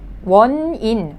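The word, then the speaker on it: 원인: Well, when you just learn kindergarten, yu chi won, the last syllable was won, looking the same, won. The second syllable, well, it is e and then n sound, consonant n, so in, won in, won in, won in, won in meaning cause.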